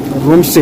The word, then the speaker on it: Rumtse: तो बारिश हो गई बंद रूम से, रूम वैसे लिखा है RUMTSE, टी साइलेंट है, तो रूम से हो गया।